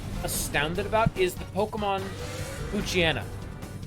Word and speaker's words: Poochyena: One of the Pokemon that I've always been the most, like, astounded about is the Pokemon Poochyena. Because it's meant to be a pooch hyena.